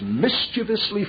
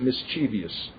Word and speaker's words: mischievous: the conclusion they say that our requirement is mischievously formal and Brethren never pronounce it mischievous that's bad pronunciation it's mischievous not mischievous all right they say our requirement